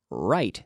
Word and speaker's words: write: is WR I te right so we have a silent W pronunciation yes we have a silent W here so I want to